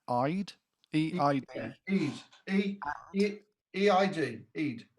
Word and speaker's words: Eid: Andrew Doyle says, I don't know how to pronounce Eid. E-I-D.